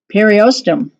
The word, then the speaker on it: periosteum: Periosteum, that does not sound, periosteum, that's how it's pronounced, is the thin tissue that covers the bone and contains nerves and blood cells.